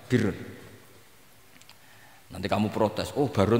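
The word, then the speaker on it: بِرّ: Ya kalau di isim fa'ilnya umumnya guru-guru kita baca barrin, tapi untuk masdarnya untuk kebaikan bacanya apa? Birrun.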